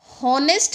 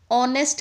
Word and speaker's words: honest: तो होनेस्ट नहीं बोलते हम। ऑनेस्ट कहते हैं।